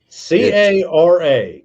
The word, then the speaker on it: Cara: uh my name is kara kara nice that's easy to remember really most people botch it and it's four freaking letters two syllables and they still it up c-a-r-a cara oh wow you